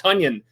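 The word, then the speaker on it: Tonyan: the new way he wants it to be pronounced tanion I love it so I've got him on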